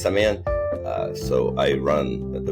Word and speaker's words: Semyon: and it's Sean by the way name is pronounced seman uh so I run the Venture Capital fund